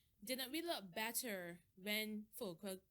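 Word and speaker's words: Füllkrug: Didn't we look better when Fulcrum, that's how it's pronounced.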